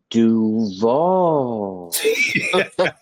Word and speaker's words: Duval: You gotta say it like their coach said it. Duval.